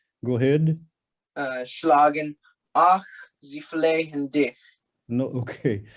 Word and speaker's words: flehen: Ach, sie flehen dich. No, okay. The H is not pronounced. Flehen. Flehen.